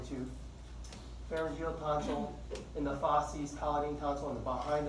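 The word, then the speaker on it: fauces: They call that the fosses. Write that on the board. Well, anyways, the fosses, spelled like that, F-A-U-C-E-S, contains the palatine tonsil.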